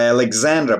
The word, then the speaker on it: Alexander: The telephone was invented by Alexander Bell in 1876. Обратите внимание, читается Alexander. И Александр да? Звонкая.